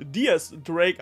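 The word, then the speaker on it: Diez: dem Charakter x Drake der eigentlich dis Drake ausgesprochen wird genau wie sein Vater DS barrels und damals in Kapitel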